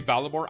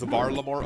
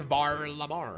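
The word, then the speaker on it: Varlamore: That's whenever I say Valore. I know it's pronounced Varammore officially, but whenever I say Valore on my videos, there's people like coping um actually it's not pronounced Valore, it's Var Lamore.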